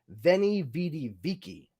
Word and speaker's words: Veni vidi vici: It was not pronounced V. It was pronounced W. It was a W. So like Julius Caesar's famous quote, "Veni vidi vici," is actually pronounced in Latin, "Veni vidi vici."